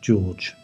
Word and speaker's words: Jorge: Jorge, pronounced George.